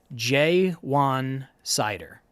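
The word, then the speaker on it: Ja'Juan Seider: It's pronounced J1 Sider. So yes, J1 Sider, where did he come from?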